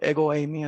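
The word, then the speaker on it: ἐγώ εἰμι: lo escrito digamos en entre comillas en español egoi mí así se pronuncia esta frase significa yo soy y estas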